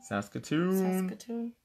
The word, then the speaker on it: Saskatoon: to come to Saskatoon what's SAS key actually you said it right the last time Saskatoon what's going on in Saskatoon